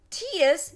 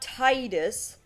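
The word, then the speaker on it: Tidus: who's the main character because tus yes that's how it's pronounced it's not Titus because this was actually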